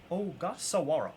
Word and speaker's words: Ogasawara: Shinosuke Ogasawara. Ogasawara. Shinosuke. Cool one there. Darb. Don't know too much about this guy. Can somebody give me the lowdown on this guy? 31 out of 99 on Ogasawara.